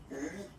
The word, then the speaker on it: huit: And here, final T is pronounced, so huit. Remember in French, this H letter here, okay, doesn't exist phonetically, so we don't really pronounce it. Okay, so if you listen carefully, you will only listen or hear these vowels at the beginning of the word.